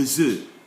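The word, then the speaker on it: œufs: When there are many, we say le œuf. We don't pronounce the F again.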